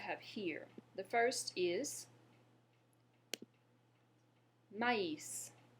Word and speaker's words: maïs: The first is maïs. Maïs. Go ahead. Great. Maïs. You may be wondering why I'm pronouncing the S at the end of that word.